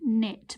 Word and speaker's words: knit: or tell the screen which letter is silent that's right it's k again we don't say i can't connect we just say i can knit but we need to